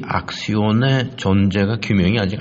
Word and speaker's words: axion: 액션이라고 하는 영어의 그 행동한다는 단어와 발음이 비슷한데 그거는 ACTION, 액션이고 이거는 악시온입니다. AXION. 근데 이 악시온의 존재가 규명이 아직 안 되었습니다.